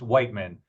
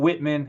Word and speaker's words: Whiteman: It's Whiteman, not Whitman. It's Whiteman.